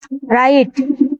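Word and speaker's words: wrong: ডাব্লু এর পরে এইচ আর থাকলে ডাব্লু উচ্চারণ হয় না। রাইট লেখা, রং ভুল, হু খে, রেস্টলিং কুস্তি, রিত মালা।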